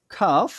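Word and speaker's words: cough: তাহলে আপনারা বুঝতে পারবেন এইযে এখানে দেখেন তাহলে উচ্চারণটা কি হলো টাফ এন্ড বা কাফ এন্ড এই শব্দগুলো দেখতে কিন্তু একই রকম না দেখেন ও ইউজিএইচ ওজিএইচ ওই ইউজিএইচ আছে বাট উচ্চারণটা দেখছেন একটু আলাদা এইটা আপনাকে মাথায় রাখতে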